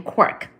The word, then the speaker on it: quark: of a T but is usually pronounced to rhyme with lark.